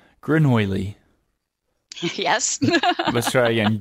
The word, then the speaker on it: grenouille: the French word for frog is Grenouille, which we would pronounce Grenouille. Yes. Let's try again. Grenouille.